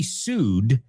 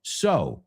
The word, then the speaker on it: sew: He sued his boss, right? He sued his boss. Pero cuidado, no es un homófono para coser, right? Coser es S-E-W, pero no se pronuncia su, sino so, como S-O, right?